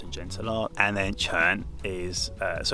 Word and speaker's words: quan: could say soft and gentle art and then churn is uh so it's spelt q-u-a-n is how you spell it in